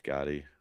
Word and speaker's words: Gaddy: funny to me that it's Gotti, like John Gotti, like the Teflon Mm-hmm. Don. It's spelled differently, but I mean, Yep.